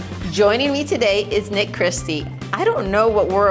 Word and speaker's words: Christie: Christie.